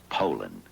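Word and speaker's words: Poulan: And for over 30 years, they've been mispronouncing our name. Puland Pol. So, we'd like to remind you that our name is Poland.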